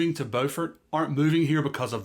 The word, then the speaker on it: Beaufort: And before anybody corrects me in the comments, around here, it's pronounced Beaufort, not Beaufort like South Carolina.